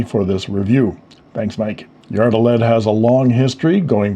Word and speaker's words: Yard-O-Led: I want to talk about the history of Yardled and I'm pronouncing the name how I heard it from Molly Yard. Of course, you can say Yard Oled if you choose.